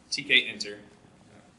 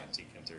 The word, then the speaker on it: Tkinter: gonna talk about my user interface library vault TK inter that's what everyone that says it's pronounced ass but I'm definitely gonna screw up to start calling antique enter here so what does tkinter it is its